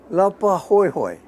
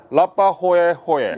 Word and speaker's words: Laupahoehoe: Lapa Hoi Hoi. Could you spell it? Laupahoehoe. PA. Lapahoho. Hoi Hoi. Lapahoehoe.